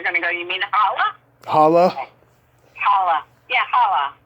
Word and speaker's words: challah: bakery and ask for challah bread, they're going to go, you mean challah? Challah? Okay. Challah. Yeah, challah. Oh, like Don't pronounce the C.